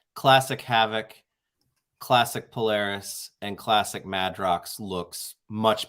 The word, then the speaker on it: Polaris: Is it Polaris? Yeah, it's Polaris.